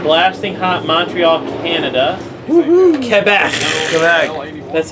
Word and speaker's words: Quebec: Quebec.